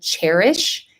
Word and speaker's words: Chairish: I did have a lot of success selling dressers on a website called Cherish. It's spelled CHAIRISH.